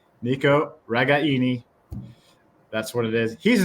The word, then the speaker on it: Nico Ragaini: family so uh yeah the authentic Italian pronounced pronunciation Nico ragaini that's what it is he's not bothered by